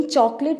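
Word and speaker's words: chocolate: लेकिन चॉकलेट इसकी गलत प्रोनाउंसिएशन है। नीचे आ जाइए, पहले हम बोलेंगे चौक, आगे लट बोलेंगे, लेट नहीं बोलेंगे, चॉकलेट, चॉकलेट, ठीक है।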